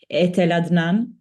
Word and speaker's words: Etel Adnan: One of her main topics is the work of, and again the pronunciation, I'm sorry, Etel Adnan. That's perfect.